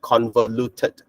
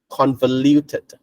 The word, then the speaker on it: convoluted: as uh conver conver the U here is pronounced as y so so we don't